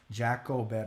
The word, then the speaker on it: Jacobed: Jacobed is the way you pronounce it on Instagram.